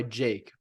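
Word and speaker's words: JVKE: golden hour I'm sorry golden hour by Jake but it's spelled j-v-k-e I've seen him he's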